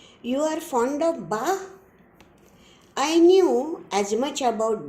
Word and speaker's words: Bach: and now the meanings ba means johan sebastian ba a german organist and composer of the 17th century baa is the german pronunciation of the word b a c h its english pronunciation is bach a shock of